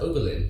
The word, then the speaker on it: Oberlin: How do you pronounce that? Oberlin.